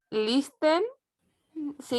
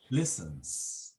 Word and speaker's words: listens: O sea, perdón, he listen, ¿se dice listen, Listens. profe? Listens. Sin la T.